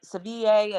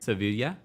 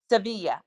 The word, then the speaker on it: Sevilla: her travels and when they were in uh Sevier and I'm pronouncing the name correctly when they were say it again Sevilla. Sevilla right when they were there in Spain.